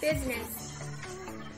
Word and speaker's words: business: cool rhythm silent i we basically always pronounce i except for the word business and parliament silence k k